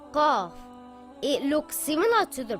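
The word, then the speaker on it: قاف: it has two dots cough is a heavy letter it should always be pronounced heavy it sounds a little like a crow sound gah the sound does not make a case out it comes from the back of the mouth cough this is what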